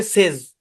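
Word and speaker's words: says: এখানে একটা কথা বলি শুনে, অরিজিনালি এর উচ্চারণ হচ্ছে সেজ, অরিজিনালটা দরকার নেই। আমি অনেক জায়গায় আমি আপনাদেরকে অরিজিনালটা পড়তে নিরুৎসাহিত করি এই এই মুহূর্তে। বুঝছেন? জি অরিজিনালি এই শব্দের উচ্চারণ হচ্ছে SEZ, সেজ। এরকম জেনে রাখতে পারেন, ওকে কিন্তু সেইজ বলেন।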